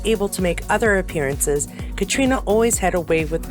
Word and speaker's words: Caitriona: concerning our Leading Lady Katrina balf anyone remember when I pronounced that katriana oh the ignorant old